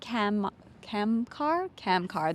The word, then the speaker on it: Kamkar: Kamkar, there we go, I said it right.